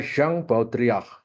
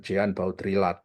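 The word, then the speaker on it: Jean Baudrillard: fenomena simulakra ya simulakrum ya bacanya Zang baudriah jadi tulisannya Jean baudrilat Bacanya jangan Jean baudrilat tapampai Syang baudriah baudriah Ya baudriah ya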